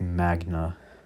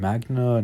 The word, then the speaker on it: Magna: I think it's like Magna. I think, yeah, Magna.